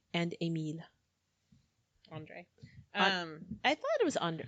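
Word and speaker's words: Andrey: his relationship with the members of the triumvirate, Audrey and Emile. Andre.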